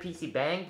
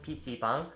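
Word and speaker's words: PC방: right the second word for this video is pc bang again is some people pronounce it pc bang but it's actually again called pc bang but in for this word bang isn't derived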